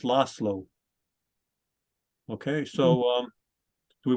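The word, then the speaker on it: László: l-a-s-z-l-o a lot of if you see it you see oh there's a z and somehow that attracts our attention and we want to pronounce the Z so people would say Laszlo but it's not it's lost slow okay so um do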